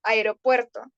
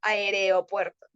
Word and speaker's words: aeropuerto: pronunciación son por ejemplo aeropuerto cuando lo correcto es Aeropuerto no aereopuerto aeroperto O aiga es muy